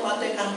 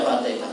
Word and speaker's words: Fatihah: Sampean bisa bacanya Fatikah tok, fatikah tok. Saya bilang sama kawan saya, "Jangan sampean bisa baca Fatihah, sampean tidak bisa baca Fatikah, bisanya baru Allahu Akbar itu sudah kasil salat itu.